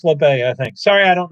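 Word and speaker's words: Labbé: labay he's from canada it's not labe that's how we used to mispronounce it alex labay i think sorry i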